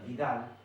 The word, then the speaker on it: Widal: Paratyphi se llama reacción de Vidal, se pronuncia Vidal, pero se escribe con W, reacción de Widal.